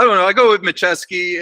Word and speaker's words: Maciej: was one of those in Polish the J is silent so okay it's it's machiavsky which the J is